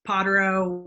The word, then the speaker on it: Pottero: has heard of um pottero which is how we pronounce it in appalachia not not easy um